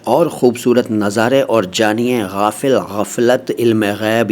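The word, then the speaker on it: غافل: गैब के बारे में पहले गाफिल देखो भाई गाफिल या गाफिल नहीं बोला है मैंने जैसा मैं बोलता हूं वैसा ही बोला करिए ठीक है शुद्ध उच्चारण हमारे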